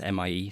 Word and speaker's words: Mie: On Mars, we have something called, I think it's pronounced MIE scattering, it's MIE scattering, MIE scattering.